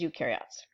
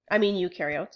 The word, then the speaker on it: eukaryotes: Eukaryotes rhymes with do because they have things that do things on the inside.